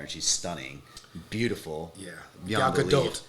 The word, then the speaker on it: Gal Gadot: Yeah, Gal Gadot. Excuse me, Gal Gadot. Yeah, but thank you for pronouncing it correctly.